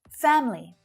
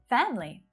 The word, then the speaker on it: family: You will sometimes hear native speakers pronouncing family with a little schwa syllable in there. Family. Sometimes I say it like this too, so it's not wrong. But most of the time, native speakers will reduce it down to just 2 syllables because it's more efficient.